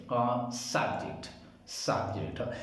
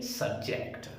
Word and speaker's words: subject: Okay, it depends upon the stress pattern of the syllable. If we take the first syllable sub a stressor, then it is a noun. For example, let's say subject, and if we take